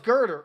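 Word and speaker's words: Gurdurr: yeah oh girder that's his name oh it's girder oh thank you yeah that's gonna say it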